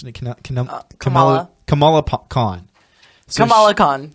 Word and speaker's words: Kamala: And so this one is Kamala Khan, I think is, how do you pronounce it? Kamala.